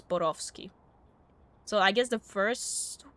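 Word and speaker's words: Borowski: I don't know how the creators of the game intended for it to be pronounced, but it is a Polish last name, so it would be pronounced as Borovski.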